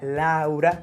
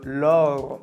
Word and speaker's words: Laure: El nombre de Laura en francés no sonaría Laura, sino Laure.